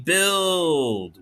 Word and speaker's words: build: we i don't know but u is silent we go ill elsa's old d says duh we build we build that makes